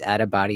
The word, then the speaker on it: Attabotty: My name's Adabody. It's spelled ATTABOTTY, and it's the same for everything.